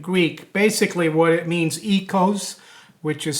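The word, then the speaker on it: oikos: Basically what it means, ecos, which is spelled O-I-K-O-S, means house, and nomos means custom or law.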